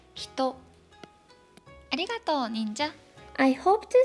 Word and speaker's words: 一: Let's summarize here.This kanji means one, and its pronunciation is ichi and hito.